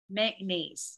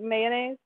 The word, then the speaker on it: mayonnaise: I used to pronounce it mayonnaise, but now I pronounce it mayonnaise. Okay. Okay. Anybody else? I have a three-syllable pronunciation for that, you know, representative of the spelling of the word, mayonnaise, right?